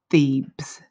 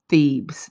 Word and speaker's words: Thebes: it with you again the name of this ancient Egyptian city is Pheebs Pheebs that's spelled th e be e s Pheebs and so I'm going